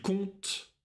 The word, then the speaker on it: compte: Il compte. Elle compte. Nous comptons. Vous comptez. Il compte. Elle compte. Обращай внимание, что буквы «п» не читается.